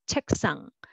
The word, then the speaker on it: 책상: And next is also 책상, but together 책상, 책상.